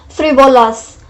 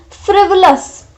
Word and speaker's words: frivolous: This is the wrong pronunciation, because everyone first, if you will read this word, you will be pronouncing it like frivolous, frivolous, frivolous, so something like that.